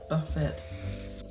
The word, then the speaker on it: buffet: buffet baby i know buff it i was like let's go to an indian buffet yes i know it's called buffet but i pronounce the t i always have to